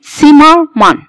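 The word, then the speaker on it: Zimmermann: التست ست، وبيتنطق زي تس تس، زي ايه؟ سيمرمان سيمرمان، ده اسم عيله المانيه سيمرمان، يبقى اتنطق تس مش الزين، مش زي ما كنت بتقول بالانجليش.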